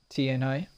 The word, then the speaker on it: Tianhai: He actually said his name. Thank you for actually correcting me. Tianhai. There you go. Said it right.